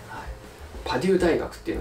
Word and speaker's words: パデュー: のこれはですパデューですねパデューって読むんですよねパデュー大学のこれ